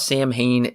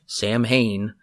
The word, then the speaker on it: Samhain: If you go back and rewatch Halloween 2, you will notice that Michael wrote Sam Hain, which is not how it's pronounced. It's Samhain, I believe.